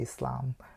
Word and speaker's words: Islam: kind of interesting and they say Islam it's a I mean it's not a z sound so yeah that's very